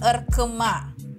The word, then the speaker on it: ırkıma: Selanjutnya itu I yang nggak ada titiknya bacanya E, ingat jadinya Kahraman Erkema.